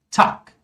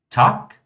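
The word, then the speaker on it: Tag: Algo similar acontece com o G, pessoal. Ou seja, o G no final de palavras, tá? Ele vai ser pronunciado como K. Olha só. Tak.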